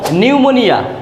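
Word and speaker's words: pneumonia: যেমন নিউমোনিয়া, এক ধরনের জ্বর, নিউমোনিয়া বানানের প্রথমে পি আছে কিন্তু পি এর উচ্চারণ হয়নি, এন থেকে হয়েছে।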